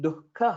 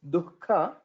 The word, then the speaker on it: दुःख: Japan Nikhila, and here the pronunciation of Dukkha, we'll have to focus on it. It's not Dukkha, it is Dukkha. That Jihva Mulya sound, basically the Visarga sound before Khakara should be heard.